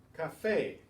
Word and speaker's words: café: Café has to have the written accent to stress that A.